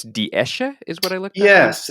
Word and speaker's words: Esche: It's ash, and in German it's Die Esche is what I looked up.